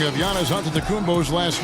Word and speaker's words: Antetokounmpo: Whatever you got, just say, you know, it's Giannis Antetokounmpo.